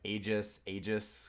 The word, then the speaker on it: Aegis: People were saying, "Oh, it's like Aegis," and I was like, "Hey, listen, I'm Canadian. You have to give me the Aegis. I've got to pronounce it with the E as the A.